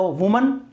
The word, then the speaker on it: women: ये सिंगुलर है, एक औरत है तो वुमन, और ये प्लूरल है। तो ध्यान रखना यदि WOMAN है तो उसका प्रोनाउंसिएशन होगा वुमन, और WOMEN है तो इसका प्रोनाउंसिएशन होगा विमेन, विमेन।